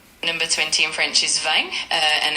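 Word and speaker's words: vingt: Number 20 in French is vang. Uh, and it's spelled V I N GT.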